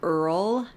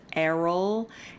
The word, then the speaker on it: Errol: mispronouncing Errol's name, that I was saying Earl instead of Errol. And I'm aware I do know that it's Errol.